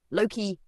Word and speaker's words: Loki: Loki, pronounced lay, is not evil.